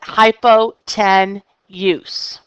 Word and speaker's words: hypotenuse: angle this is my hypotenuse I spell it hypo ten use but it is pronounced hypotenuse the two sides that